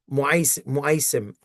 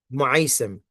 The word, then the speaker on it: Mu'aisim: Tunnel of Mu'aisim, for those who can't pronounce it, Mu'aisim, Mu'aisim, uh, like Ma'sum, Asama Ya'simu, Mu'aisim.